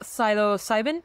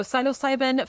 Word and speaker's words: psilocybin: all right so Silo cybin this is so interesting did I say it right syo yeah sybin okay so syo cybin found in magic mushrooms shows promise as a